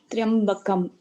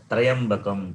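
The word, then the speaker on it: त्र्यम्बकम्: Triambakam. Triambakah. I am saying this, people, they pronounce Trayambakam, Trayambakam, it is wrong.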